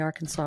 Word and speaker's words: Arkansas: walk right down the Arkansas River cuz we say Arkansas in we say AR Kansas about the river but we say Arkansas about the state so I say Arkansas